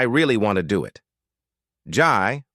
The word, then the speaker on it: Jai: want to do it ji pronounced Jay had always been my